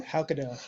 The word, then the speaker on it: Haukedal: How do you pronounce his name? Haukedal.